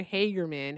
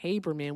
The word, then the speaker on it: Haberman: He called her Hagermanerman. Her name is actually Haberman with a B like being in Bravo.